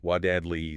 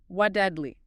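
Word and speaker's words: Wadadli: It's spelled W A D- A D L I, but it's pronounced Wadley Solar. Wadley.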